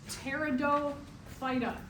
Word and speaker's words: Pteridophyta: All right, next group are called the Pteridophyta. The P is silent, so it's Pteridophyta.